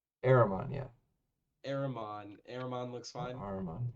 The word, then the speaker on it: Ahrman: I keep forgetting how to pronounce it. Ahrman. Ahrman, yeah.